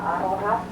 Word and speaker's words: aroha: Not like the word aloha. We have the same word, but instead of having an L, we have an R, and we say aroha. Sounds the same, pronounced very similar. It's just look that R, roll the R, aroha, wiri.